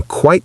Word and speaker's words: quite: It rhymes with bite, kite, night, white.